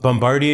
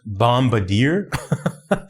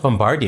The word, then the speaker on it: Bombardier: Hey, so uh Bombardi is pronounced Bombardier. Okay, like we're in Canada, right? And uh it it's pronounced bombardia because it's French.